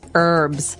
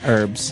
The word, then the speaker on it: herbs: it's more commonly the it's more commonly pronounced as an a silent h that's right herbs herbs uh and what are